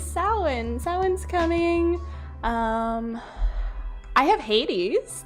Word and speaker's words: Samhain: Which, by the way, if anyone didn't know, that is how you pronounce that. It is not pronounced Samhain. Although that's what I say in my head every single time I write it. It is Samhain.